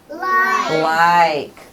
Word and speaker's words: like: And there is a silent E at the end that makes the I say its name.